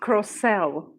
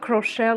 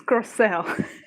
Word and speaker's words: Crocell: Also, it's pronounced Croelle, not Crochell or Crochell. It's Croelle.